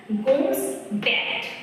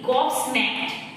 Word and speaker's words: gobsmacked: গোমস ব্যাট, গোমস ম্যাট, GOBSMACKED, গবস ম্যাট, sorry আমার first উচ্চারণ ভুল ছিল, গবস ম্যাট, অবাক।